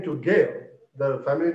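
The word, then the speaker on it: Guerre: the return of martin gale uh the french pronunciation is gail the spelling is g-u-e-r-r-e martin gear so modern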